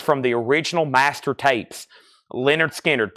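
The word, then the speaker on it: Lynyrd Skynyrd: and this is from the original Master tapes Leonard skinnard pronounced Leonard skinnard 64.99 now we have goo I'm assuming that's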